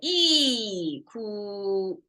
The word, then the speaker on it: 一: by know this and it pronounced as e and it can change sound but it's e and then that's our